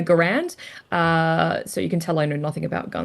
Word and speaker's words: Garand: So apparently Kane's men are using M1 Garens or or Yeah. Yeah. Garand.